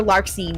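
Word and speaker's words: Larxene: You you look at like you don't really pronounce the X's as much as you think you do in most of the names like Marluchia that's you know you're not really pronouncing the X um or Larkine you're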